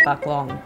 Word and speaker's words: Phuc Long: It is a very famous Vietnamese coffee brand called Fucklong. They might pronounce it a little differently, but I'm Australian, so we would say that's Fucklong, mate.